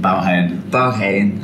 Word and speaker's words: Baghaven: And we'll be seeing Baghaven. How is it pronounced? Baghaven. Oh, that's so easy. Yeah. It's not easy. Don't worry. Baghaven. I said Baghaven first, and I got told off.